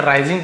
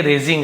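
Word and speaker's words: raising: के बारे में सॉरी मैंने सेे राइजिंग पढ़ दिया था ये रेजिंग है ठीक है आई आता था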